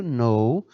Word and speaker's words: know: Porque é o verbo to know, ele é o verbozinho conhecer, saber. Certinho? E professor, mas começa com um K, mas essa letra K você não pronuncia.